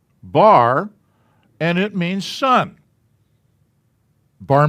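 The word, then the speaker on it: בר: a patak under it and this is is pronounced bar and it means sun bar mitzvah so and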